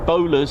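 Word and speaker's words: Bolars: The 492nd, the Mad Hatters, locally known as the Bowlers, spelled B O L A R S, spelled differently to the Bowler hat as we spell it here traditionally. However, it does mean the Bowler hat.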